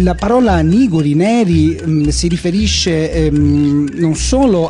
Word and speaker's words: Niguri: Sì, è Niguri, con l'accento sulla prima I.